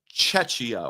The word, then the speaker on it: Czechia: If I said Chechnya, I said it wrong. That's a Russian breakaway republic. I was trying to say Czechia or Czechia, what used to be called the Czech Republic.